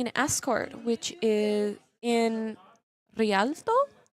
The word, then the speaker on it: Rialto: We are currently doing an escort, which is in Rialto. Roll your R's.